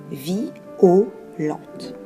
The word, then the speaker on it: violente: Pour obtenir un vers pair, un vers de 10 syllabes, il faut encore avoir recours à la diérèse avec le mot violente qui se prononcera violente.